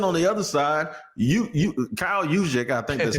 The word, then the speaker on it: Juszczyk: And then on the other side, Kyle Juszczyk, I think that's how you say his name.